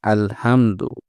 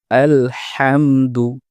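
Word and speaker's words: الحمد: আয়াতে প্রথম শব্দে আলহামদু এ জায়গায় আমরা হা কে হা বলে ফেলি অনেক সময় আমাদের উচ্চারণটা শোনায় আলহামদু যেটি সঠিক নয় সঠিক উচ্চারণ হচ্ছে আলহামদু বড় হা দুই নাম্বার হচ্ছে লিল্লাহি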